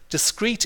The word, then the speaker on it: discrete: all have similar meanings discrete in English as there are two words that are pronounced discrete this one means separate